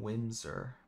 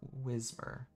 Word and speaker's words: Whismur: fact um or whismur i always mispronounce his name i always call him windsor but it's whismur yeah whatever it doesn't